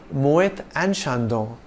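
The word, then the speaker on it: Moët & Chandon: and joined the business one more thing ET pronounced a is the French word for and hence is the proper French way of saying it however you may also choose to call it Mohit and Shandong do note that champagne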